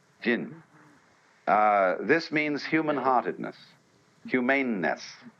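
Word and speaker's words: 仁: How do you pronounce that in Japanese? Jin.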